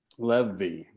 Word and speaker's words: Levy: that was speaking it levy let me okay it's like heavy yeah yeah yeah you're